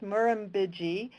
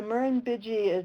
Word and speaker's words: Murrumbidgee: Luckily, I'm not sure how many of you guys are Australian, but I think it's pronounced Murrumbidgee River, and it's in Yanga National Park in New South Wales.